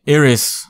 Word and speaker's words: Iris: all right all right iris okay I'll pronounce it how the game pronounces it I'll call her eros but I ain't happy